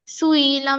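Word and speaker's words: سُئِلَ: হুম scene পেশ সু, হামজা জের ই, সুই, লাম জবর লা, সুইলা। সুইলা, হামজাটা ভালো করে উচ্চারণ করতে হবে, সুইলা।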